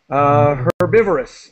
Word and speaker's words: herbivorous: Just carnivorous is the pronunciation, and herbivorous.